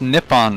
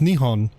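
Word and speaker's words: 日本: that to that uh same same level it's pronounced nipon not Japan to be to be to be even more correct it's pronounced Nihon yeah there you go if you if you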